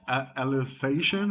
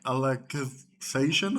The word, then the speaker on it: Alicization: I've enjoyed every other iteration of Sword Art Online, including Alicization or Alicization, I believe it's pronounced.